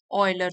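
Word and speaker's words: Euler: of Gauss and ऑयलर तो इनको pronounce करेंगे गाउस एंड ऑयलर तो वो कह रहे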